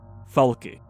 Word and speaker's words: Falke: it like that or would it be just FAL I would assume it would be faly because of the fact that there is an e why put a silent E there if you're not not going to pronounce it right operational command control